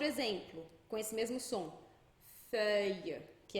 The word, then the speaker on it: feuille: Outro exemplo, com esse mesmo som, feuille, que é folha.